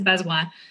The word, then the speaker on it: Bazoin: so andrea best one my last name is b-a-z-o-i-n uh it's french a lot of people say oh what i don't understand how how do you say that is bezoi so um that's how